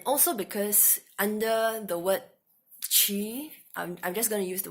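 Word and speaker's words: qi: born and raised in China and they don't call it C which is the Chinese pronunciation usually people just call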